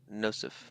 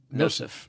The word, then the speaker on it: Nosif: And it sounds like Joseph, but start with an N in sound. So Nosif. Okay, Nosif.